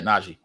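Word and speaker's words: Nnaji: Anthony Towns, James Naji, is that how you pronounce his name? Correct. Yeah. Naji.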